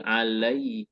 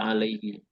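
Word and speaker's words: عليه: kemudahan dalam mengucapkan ainii makanya ketika ada kata ala menjadi Alaihi he ya dibaca Alaihi kasrahnya itu bukan karena dia majrur dengan ala ini juga bukan Karena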